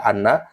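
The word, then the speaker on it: أنّ: Kemudian itu alasan-alasan, salah satu alasan kenapa hamzah dibaca fathah ya, pada lafaz inna dibaca anna.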